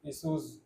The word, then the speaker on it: issues: Issues. हम्म। Issues. Shah लगता है, Issues.